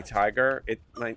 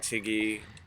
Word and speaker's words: Tige: But if I don't tell them that, they pronounce it with the G, so I wind up like Tiggy or Tigi or TJ or Taiji. Like you think of a way you can mispronounce Tige and they've done it.